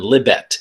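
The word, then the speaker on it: Libet: a guy named benjamin libbette l-i-b-e-t i think that's how you pronounce his name benjamin libbett and so there's been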